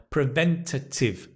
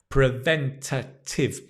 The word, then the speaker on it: preventative: Physical health, mental health, preventative health. Right? Preventative. When you've got a long word, just break it down. Pre-ven-ta-tive. Watch the shape of the mouth. Preventative. Watch the stress.